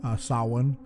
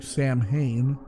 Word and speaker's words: Samhain: It's the same thing with Samhain. It looks like Sam Hain, but it's pronounced Samhain.